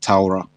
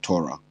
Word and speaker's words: Torah: It's Torah, not Torah. Torah means say, recite, say. You see the thing? There were no books, so you can't read. You recite, say this. It's not even Torah.